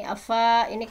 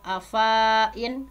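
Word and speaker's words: أفإين: pelajaran afain maka ini Afa ini kan harusnya dibacanya panjang ya Fa Fa ee diikuti Alif ee Ini Alif diikuti sebelumnya fathah kan biasanya afain tetapi ini adalah dibacanya pendek ini adalah salah satu ayat garib ya afain nah sehingga nanti kalau ngajarin ke anak ada pelajaran afain hati-hati fnya dibaca pendek Nah jadi eh di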